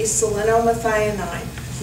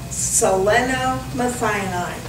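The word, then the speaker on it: selenomethionine: you're taking a supplement it needs to be salinomethianine not sodium selenite not selenate but selena methionine spell that please oh i thought this was a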